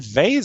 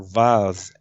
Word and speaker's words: vase: But is it vase or vase? Both pronunciations are correct. Okay. I just think vase is probably more of a British pronunciation. Yeah. And vase is more of an American pronunciation.